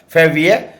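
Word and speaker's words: février: आई ई आर ये French में है फेवी लेकिन इंग्लिश में इसको फरवरी बोलते हैं और ये क्या है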